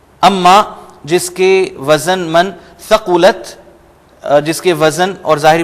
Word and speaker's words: ثَقُلَتْ: یہ ایک تو آپ نے تا کو پرومیننٹ کرنا ہے ثقلت, اور سا نہیں ہوگا, ثقلت نہیں کہیں گے ہم, ثا وداؤٹ وہ جو سفیر سی ٹی کے میں آپ سے عرض کر رہا تھا.